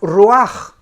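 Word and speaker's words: רוח: el original hebreo es la palabra ruaj que se escribe ruach que es la palabra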